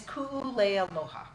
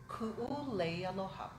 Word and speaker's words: Ku'ulealoha: It is Ku'ulealoha. And it is Hawaiian. Is that Hawaiian? Yeah. It is. My mother's Hawaiian, and it means my beloved wreath of love. Say it one more time. Ku'ulealoha.